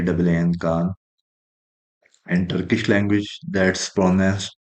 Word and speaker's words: KAAN: this is called drish Aerospace Industries KH K KH and Turkish language that's pronoun pronounced as Khan and uh in English in